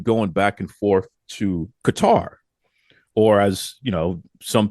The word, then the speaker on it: Qatar: you have been going back and forth to Qatar, or as you know, some people have corrected me before and said, uh, Qatar. That's how they pronounce it, Qatar.